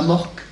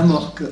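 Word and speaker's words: AMORC: C'est généralement la morque. La morque. A-M-O-R. Oui, la morque comme ça se prononce, quoi.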